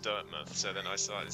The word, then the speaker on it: Dirtmouth: the beginning of this it never occurred to me to pronounce dirtmouth like an English Village dmouth you you know you know the funny thing Paragon it didn't occur to me either until chat started saying it was pronounced dirtmouth so then I started